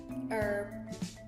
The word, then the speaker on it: herbs: say sweets what's that herbs herbs there's an H there's an H at the beginning so do you not say that silent h a silent h we' say herbs herbs Tartan Tartan I've